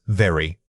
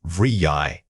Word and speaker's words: very: Overemphasis, very. Natural rhythm, vryi.